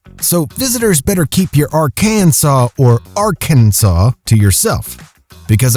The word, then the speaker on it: Arkansas: of the arkansas code it should be pronounced in three syllables with the final s silent the a in each syllable with the italian sound and the accent on